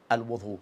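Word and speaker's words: وُضوء: have clarified regarding for the word al-Wudu that can be pronounced two ways, with waw, with al-Wudu, with ad-Dhamma or with fatha.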